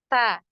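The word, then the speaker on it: ت: punya aliran nafas nah huruf Ta ini dia punya aliran nafas ya ada aliran nafasnyaah atau yang biasa kita kenal dengan eh sifat Hames nah nah pernah dengar ya Hames ya Jadi ada suara ee bukan suara ada nafas ya ada aliran nafas ketika kita mengucapkan huruf ta ya Ta Ta nah ini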